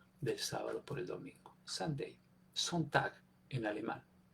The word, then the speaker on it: Sunday: dado cuenta en inglés la palabra domingo se escribe sande se dice Sunday Qué quiere decir Sunday